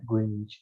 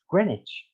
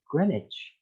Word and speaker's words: Greenwich: are from america uh you would also said greenwich too i guess but it actually pronounced as greenwich like a vowel the e vowel is dropped and w is not said it's like greenwich for some reason and